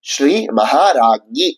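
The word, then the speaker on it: ஸ்ரீ மஹாராஜ்ஞீ: நாமாவாக இரண்டாவது நாமம் இருக்கு இந்த இரண்டாவது நாமம் எப்படி உச்சரிக்கப்படும்னும் அப்படிங்கறத இப்ப பார்கலாமா அதை ஸ்ரீ மகாராகி அப்படின்னு சொல்லணும் அர்ச்சனையாக செய்யும் பொழுது ஸ்ரீ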